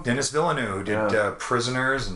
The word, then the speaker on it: Denis Villeneuve: dune my uh oh no i could never pronounce his name dennis villeneux dennis villeneuve who did uh prisoners in sicario on the